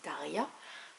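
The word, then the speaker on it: Tarja: sais que par exemple Taria la l'ex chanteuse de Nightwish ça s'écrit t a r J a et ça se dit Taria donc là le J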